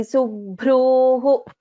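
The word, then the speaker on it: सुभ्रूः: So if you are taking a break after Subhruhu, then please pronounce the complete Visarga. Sumukhi Nalini Subhruhu Shobhana Suranayika.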